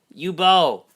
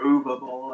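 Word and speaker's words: Uwe Boll: U-Bowl. Some people just call him U-Bowl. Or Uva Bowl. I've heard that one. Uwe Bowl.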